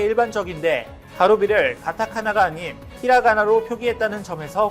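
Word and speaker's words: カルビ: 갈비를 일본식 발음으로 하면 가루비인데, 일본 맥도날드가 일본을 대표하는 버거로 가루비 맥을 소개한 사건이 있었습니다.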